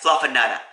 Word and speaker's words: Fluffanutta: You gotta say it like that, Fluffanutta, with a Boston accent, because Boston.